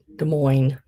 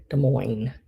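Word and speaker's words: Des Moines: there at the bottom do not pronounce the s De Moine de Mo yeah de Moes I don't know really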